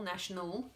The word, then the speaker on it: national: So here we say ul, national, now we say nationality.